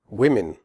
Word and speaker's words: women: Women. The O in women has a different sound than the O in the singular form woman. In women, the O is pronounced I, as in the word win.